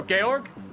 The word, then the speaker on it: Georg: So Georg, is that how you pronounce it? Thank you, I appreciate that. I just always called him George and he's just never said anything.